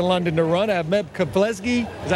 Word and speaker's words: Meb Keflezighi: I have Meb Keflezighi.